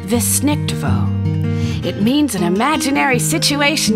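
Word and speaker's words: Weissnichtwo: Yep, it's a German word. It's pronounced Wissnichtwo.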